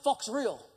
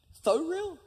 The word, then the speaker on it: Faux Real: And my moment was short-lived, because he quickly said, "Oh, yeah, Fox Real." I said, "You mean Faux Real?" And I swear to you, he said, "Oh, is that how you pronounce it?"